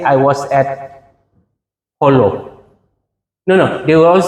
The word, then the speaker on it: Jolo: Uh it's Holo. Yeah, it's Holo, not not No, it's not Jolo, it's Holo. Okay, so this little tiny one you compare to Sabah.